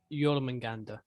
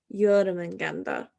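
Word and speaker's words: Jörmungandr: My father told me of, how the fuck do you pronounce his name again? Jormungandr. Jormungandr.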